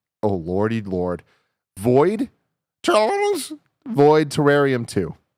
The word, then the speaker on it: Void Terrarium: Charles void terrarium too I think terrarium is the pronunciation no you everybody every once in a while I have to read some name on this list it is rarely this bad the game is pronounced void terrarium 2.